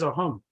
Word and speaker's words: Assam: Simply because in Assam, we pronounce it as Ahom.